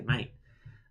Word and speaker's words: mate: Australians' toes here, but we do use the word mate, although I guess usually tend to pronounce the T a little bit more. I guess that's the only difference. But I mean, I don't because I'm lazy. I just say mate, like M and then 8.